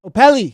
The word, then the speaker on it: Opele: Well, Opele. I said it right that time, I think. Right? Did I get that? Opele, yes.